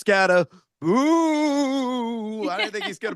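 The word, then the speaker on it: Skattebo: Well, it's the Halloween season, so it's only appropriate uh I pronounced the last name correctly. It's Scatteroo.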